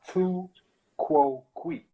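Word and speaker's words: tu quoque: It's pronounced tu quo qui.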